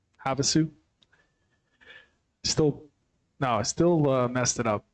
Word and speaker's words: Havasu: Finally pronounced it correctly. Havasu. I still messed it up. Havasu.